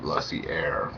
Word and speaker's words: Lussier: I pronounce his last name Lussier, but to me, I think that he's an exceptional director.